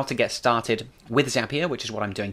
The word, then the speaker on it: Zapier: and it is pronounced zapier not the zapier the way you remember is it's zapier makes you happier and zapier is at